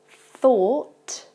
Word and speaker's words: though: The first one is though, the second one, thought, and the third one, through. So you can tell with the first one, it's not the same vowel sound at the beginning, it's though.